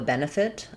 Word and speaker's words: benefit: So, first syllable stress here. Ben, fit. We have the e vowel in the first syllable and then either an i or an uh very reduced vowel in the second syllable and an ih in the second syllable, last syllable.